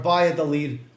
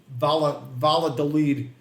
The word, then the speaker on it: Valladolid: I'm sorry, Valladolid. Valladolid. Brooklyn guy doesn't know that the two L's are pronounced like a Y, so he's going to say Valladolid.